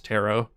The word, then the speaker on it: tarot: Have pronouncing terret like carrot. Oh, I'm pretty sure it's it's tero. I think the t is silent, but it's okay.